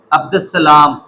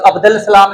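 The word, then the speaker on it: عبد السلام: तो जिनके अंदर अल्फ लाम आए, लिखने में आए लेकिन पढ़ने में ना आए, जैसे अब्दुस्सलाम, अब अगर हम इसको ठोक के पढ़ेंगे तो अब्दुल सलाम लिखना होना चाहिए था, या अब्दुल सतार पढ़ते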